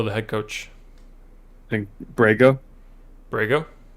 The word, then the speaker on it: Borrego: bismack biambo no the head coach i think brego brego borrego yeah borrego yeah well why did you do that i